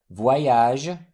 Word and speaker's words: voyage: O-Y. This diphthong is pronounced like W-O in the English word one, followed by a Y sound. Way. Voyage, nettoyer, croyez.